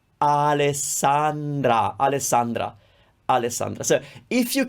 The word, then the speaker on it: Alessandra: the same importance america alessandra alessandra that's the name three r sounds and they all sound the same alessandra alessandra alessandra so if